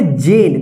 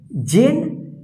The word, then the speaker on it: Jane: तो यहां पे देखिए JANE, इसको पढ़ेंगे जेन। देखिए लास्ट में ई है और इससे पहले वोवेल ए आया तो ए का ए उच्चारण होगा, ई का उच्चारण नहीं होगा, ठीक। जेन।